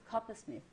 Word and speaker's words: Coppersmith: How do you pronounce it? Coppersmith.